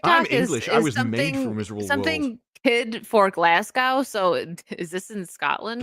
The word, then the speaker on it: Glasgow: made something kid for Glasgow so is this in Scotland glasow do you mean glasgo oh yeah Glasgow sorry Glasgow be over there